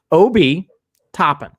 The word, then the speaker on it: Obi Toppin: hopping kobe topping i i ran to the pronunciation guide world and i listened to a couple dayton flyers game not exaggerating on youtube obi topping so everybody's got their